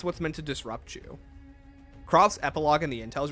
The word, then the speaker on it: Croft: It's pronounced Croft, not Craft. It's kind of both. They say Croft, Craft. It doesn't matter. Whichever one you feel like is better to say.